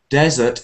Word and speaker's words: desert: there's the vowel sound desert is e like egg and dessert is more